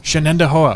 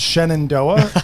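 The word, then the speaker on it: Shenendehowa: Shannendoa. Okay. Thank you. Everyone panics and says Shenandoa. It is spelled phonetically. Yeah. But everybody just sees it and just panics.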